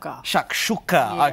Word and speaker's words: chakchuka: article fantastic job how do you say it chuck chucka okay cause havend okay cool so this is